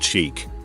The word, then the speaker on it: chic: seen it several times sheik is a french word pronounced chic that roughly translates to fashionable but when referring to